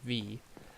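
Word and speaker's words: Vis: and it says 50 V that's how you pronounce that is V and that is the V is like the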